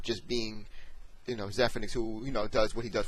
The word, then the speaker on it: Zephyrnix: The Z-E makes a Z sound, or the Z sound rather.